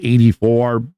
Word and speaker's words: AD4: This is a band called 84, but it's spelled AD4.